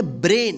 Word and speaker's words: brain: इसी तरह से यहां पे देखिए BRAIN इसको क्या पढ़ेंगे, ब्रेन, इसको ब्रेन नहीं पढ़ेंगे, क्या पढ़ेंगे, ब्रेन, यानी